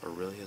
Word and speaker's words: Aurelia: Mythic rare Aurelia the war leader that it's pronounced Aurelia the war leader guardian of the gatess burus